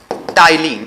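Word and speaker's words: ptyalin: पहला जो एंजाइम होता है उसको कहा जाता है टाइलिन, इसमें पी साइलेंट होता है।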